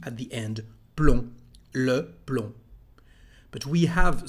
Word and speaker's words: plomb: At the end of a word, this letter is not said. Let's see some examples to understand it better. For example, we've got the word plomb in French.